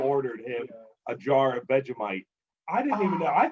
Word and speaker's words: Vegemite: saying, so like, what I'm saying is like, okay, so what is Vegemite?